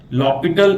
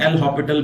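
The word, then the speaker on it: L'Hôpital: लॉपिटल इसको pronounce करते हैं, एल हॉपिटल भी बोल सकते हैं।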